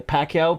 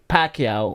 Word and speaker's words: Pacquiao: But the reason why in every fight or Pacquiao's fight, if you listen, they elongate the Pacquiao pronunciation because Americans cannot say Pacquiao or Pacquiao.